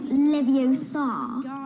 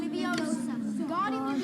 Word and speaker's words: Leviosa: Besides, you're saying it wrong. It's Leviosa, not Leviosa. You do it then if you're so clever. Go on. Wingardium Leviosa.